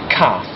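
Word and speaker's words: cath: also have um a very strange very peculiar pronunciation rule I'll explain um the word for cat in Welsh is calf so that's really easy cat calf but if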